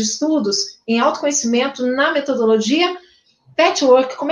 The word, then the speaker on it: Patchwork: de grupos de estudos em autoconhecimento na metodologia Patchwork, como é que pronuncia, Valéria?